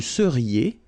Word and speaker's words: seriez: Vous seriez. So here when you've got this Z at the end, then you get the sound E, seriez. So vous seriez, okay?